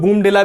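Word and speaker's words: Bomdila: कुछ लोग बूमडिला भी बोलते हैं, कुछ लोग बोमडिला बोलते हैं, तो आप उसमें इतना बड़ा विशेष प्रश्न नहीं है कि इसको क्या बोलना चाहिए, लेकिन बोमडिला आप याद रखेंगे तो आपको प्रोनाउंसिएशन में अपने आप समझ में आ जाएगा।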